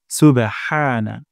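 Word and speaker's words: سبحان: সুবহানা, সুবহানা। তারপর রব্বিয়াল। যেন এমনটি না হয় রাব্বিয়াল, মোটা করে উচ্চারণ করতে হবে।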